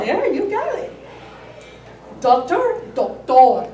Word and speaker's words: doctor: Doctor, doctor. The accent is in a different place, right?